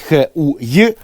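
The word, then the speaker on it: Хуей: Товарищ ліхуеч или вообще-то правильно казать х уй уж Извините товарищи из нацрады но так правильно ви можете піти до китайських фонетиків і спитати прізвище читається Таким чином Тому це не матюки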